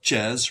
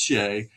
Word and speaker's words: Shea: Um, some call it Chez, right? Chez, but it's pronounced Shea.